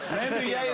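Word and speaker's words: Rambouillet: Ramuay is spelled R A M B O U I L L E T.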